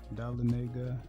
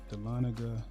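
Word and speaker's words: Dahlonega: These photos were taken over at Montaloo Winery over in Dalenega or Dana actually pronounced um Delana.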